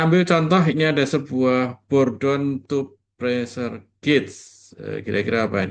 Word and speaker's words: Bourdon: Bacanya gimana nih? Eugen Bourdon ya.